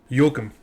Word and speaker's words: Joakim: Joakim.